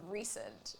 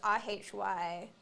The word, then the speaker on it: Rhysand: it called Rhysand, but it's spelled Rhysand with like an R-H-Y. So it's R-H-Y-S-A-N-D. And so I think the whole time I read like the first 3 books, I thought it was pronounced Rhysand.